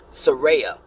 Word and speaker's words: Saraya: Oh, I'm sorry, I said her name wrong. Saraya used to be called Paige.